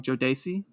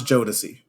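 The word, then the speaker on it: Jodeci: I'm saying this wrong Jodi Jodi oh oh oh my God oh my God okay U yeah so that let's pronounce jodic jodic okay yeah yeah yeah I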